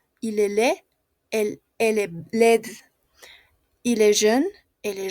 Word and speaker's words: laide: Y su femenino, como tiene E, y no se pronuncia porque no tiene tilde, el sonido pasa a la D. Entonces es led, led.